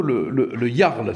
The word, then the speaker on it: Le Jarl: vous avez un pseudo, le Jarl, c'est ça, hein, on prononce comme ça.